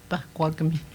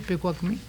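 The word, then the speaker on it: Pekuakami: J'ai toujours entendu Pakwagmi. OK. Toujours entendu Pakwagmi, mais aujourd'hui, le monde, ils disent Pekwagmi. Ou bien Piekwagmi. Moi, je dis Pekwagmi. C'est des différentes prononciations.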